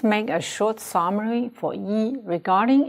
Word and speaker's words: 一: The first, before a fourth tone, 一 will be pronounced as second. The second, before a first, second, third tone, 一 will be pronounced as fourth. The third, between two same verbs, 一 will be pronounced as a light tone.